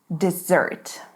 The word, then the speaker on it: dessert: Dessert.